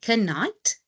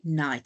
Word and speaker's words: knight: The knight that's loyal to the king we do not say canite we just say knight. So our K is silent and that's why they then also sound the same.